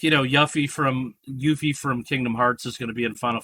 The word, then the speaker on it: Yuffie: been saying it wrong it is it is yuffie it is yeah um but no that's maybe